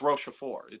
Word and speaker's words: Rochefort: Is that how you pronounce it? Rochefort? La Rochelle, I think you mean. No, it's Rochefort.